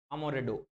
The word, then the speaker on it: Amoretti: ये इनका सोनेट है, सोनेट नंबर AMORETTIE, लेकिन इसको प्रोनाउंस करते हैं अमोरेडो, अमोरेडो, अमोरेडो, अमोरेडो, ऐसे इनको प्रोनाउंस करते हैं अमोरेडो, अमोरेडो, अमोरेडो, अमोरेडो प्रोनाउंस करते हैं।